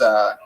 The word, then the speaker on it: pozole: No, if you look up chicken, I believe it's Pozole, and it's pronounced pozole for all you fucking gringos out there.